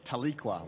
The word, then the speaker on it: Taliqua: dice crew there about I'm going to pronounce it till equal but I think I might have heard you pronounce it differently Michael could you correct me on the pronunciation yeah taliqua we say let's go with taliqua how is she first